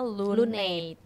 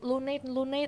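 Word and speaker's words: LUN8: bagi yang belum tahu Jadi lu night itu misalnya lu N8 jadi Tapi bacanya lunate itu mereka tuh ganteng-ganteng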